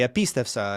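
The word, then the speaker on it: ἐπίστευσα: would be like, man, it's a recessive accent, of course, right? He would just move it back to the next syllable, right? He would say epistefsa and epistefsas and epistefse and epistefsamen.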